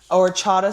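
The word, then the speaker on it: horchata: So, and then another boring thing I want to do just before we get into Mission Impossible is I tried the new orchatada syrup that um that Starbucks has, let me say it right, orchata syrup that Starbucks has.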